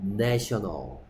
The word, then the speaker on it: nation: A의 발음이, 발음 기호라면 이렇게 생겼습니다. 이렇게. 한글로 쓰면, 여러분들 이게 잘 모르니까, 한글로 쓰면 무슨 소리? 에 소리입니다, 에 소리. 그래서 뭐? National. National. 하지만 얘는 발음이 뭐라고? Nation. A의 발음 기호로 쓰면, 이렇게 써요. A죠, A. 그리고 발음이 뭐다? 우리말로 굳이 쓰면 A야, A.